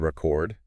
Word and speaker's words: record: mean like the word record yes exactly if you stress the first syllable it's a noun like a vinyl record but if you stress the second syllable it becomes a verb right like to record